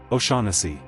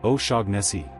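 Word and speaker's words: O'Shaughnessy: Americans sometimes say osi or o shagni like the gh is doing something heavy. The corrected version is o sha. Sha like sha then n then c. O sha. Try it. O sha again. O sha. Memory trick. Ignore that gh completely and aim for the rhythm.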